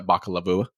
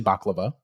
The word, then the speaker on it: Bakalova: being voiced by Maria Bakalova. I don't know how to say her name. It's obviously Baklava. No, it's Bakalova. It's definitely Baklava.